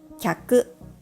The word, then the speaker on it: きゃく: For example, kyaku consists of 2 molars. Kiyaku consists of 3 molars. These two words may look similar in writing, but they are completely different words in different sounds and meaning.